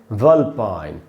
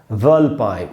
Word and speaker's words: vulpine: इसको पढ़ेंगे कैसे? वल्पाइन, वल्पाइन। व में जो अ है उसी पर स्ट्रेस है, उसको अंडरलाइन कर दिया मैंने, वल्पाइन, वल्पाइन, ऐसे करके इसको पढ़ना है।